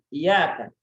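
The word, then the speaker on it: إياك: Tapi ketika kita mengatakan hanya kepadamu, maka kita menggunakan ya yang bertasydid. Maka kita membacanya dengan penguatan, ya, dengan naber, ya, penekanan. Iyaka, ya, seperti itu ya. Iyaka, bukan iyaka.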